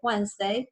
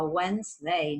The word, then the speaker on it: Wednesday: Entonces es una palabra que es muy difícil para los chicos aprender a escribir, es Wednesday, porque fíjense, yo digo Wednesday, ¿no? Suenan muy pocas de las letras que están ahí.